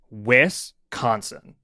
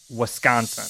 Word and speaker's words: Wisconsin: Okay, so when I moved to Wisconsin, I got so much for calling it Wisconsin because it is actually pronounced Wisconsin.